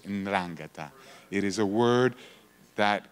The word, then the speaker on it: 'Ndrangheta: the world is the 'Ndrangheta, almost impossible to pronounce, 'Ndrangheta.